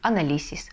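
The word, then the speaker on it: análisis: Но если мы не поставим это ударение, то мы как будто бы напишем «анализис». Да? Заканчивается слово на «эсе», значит, ударение должно падать на предпоследний слог, и мы напишем «анализис», а надо «анализис».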